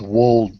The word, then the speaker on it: Wold: I believe it's Wold Newton, but that's fine. Yeah. Okay. Wold or Wald? Wold. Wold. Okay.